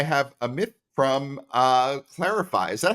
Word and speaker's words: Clarifai: and today I have a myth from uh clarify is that how you pronounce it by the way clarify it is the correct clarify okay sounds great